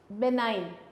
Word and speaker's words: benign: Benign. Benign में G silent है।